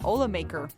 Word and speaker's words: Olamaker: I learned how to say her name. It's Rebecca Olamaker.